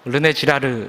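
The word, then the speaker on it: René Girard: 유명한 인류학자 의자 사상가이자 기독교 변증 과가 있습니다 발음을 잘 하셔야 되는데요 르네 지라르 입니다 그는 어렵 슬쩍 에 엄격한 기독교 집안에서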